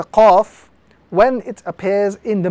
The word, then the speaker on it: Qaf: This letter is the letter Qaf. Again, this letter must be pronounced with some emphasis. Qaf in the capital formation.